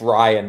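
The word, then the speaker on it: Ryne: I think I'm going to back Rin Nelson for my beat the streak over four and a half Ks. Chat's saying it's Ryan Nelson. Oh, it's not Rin? Apparently it's douchebags. R Y N E.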